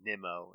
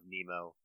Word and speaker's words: Nimmo: he was talking about he said brandon nimo's name wrong a bunch of times and that made me cry but wayne randazzo every time right after he would be like nimmo instead of nemo overall it was a